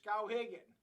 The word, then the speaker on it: Skowhegan: how to spell it it's cow Higgin it's s-k-o-w-h-e-g-a-n uh yeah it's an Indian name